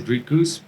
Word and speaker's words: Dricus: a little bit better they said rikuz which is a lot closer than well to be honest the american folk have been struggling to say my name it's uh just because of the r they don't really have the the sounds in the in the vocabulary so i mean it's